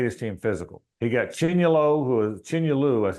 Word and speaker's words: Chinyelu: He got Chinyelu, that's how they pronounce it now, it looks like Patrick Young, big physical guy.